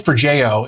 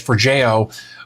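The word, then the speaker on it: Forgejo: I think it's for Jojo is actually how it's pronounced based on what I ascertained from my research for Jojo.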